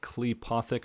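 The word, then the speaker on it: Qlippothic: at i guess it's supposed to be pronounced cleopothek i always pronounce it clipothic but inverted dark magic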